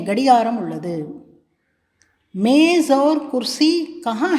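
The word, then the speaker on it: मेज़: वो मेज है அது மேஜை. क्या वो मेज है, क्या वो मेज है ஜாவிற்கு கீழே புள்ளி வைத்துள்ளது பாருங்கள், அதை ஜா என்று உச்சரிக்க வேண்டும்.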